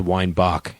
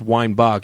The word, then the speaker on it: Weinbach: about correcting them that it was like, it's pronounced Weinbach, know? Weinbach. Mr. Weinbach, keep on saying he's going to stab me. And I'd be like, it's pronounced Weinbach.